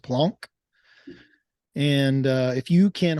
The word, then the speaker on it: Planck: Plum plunk energy it's spelled plank but it's pronounced Planck and uh if you can harness this energy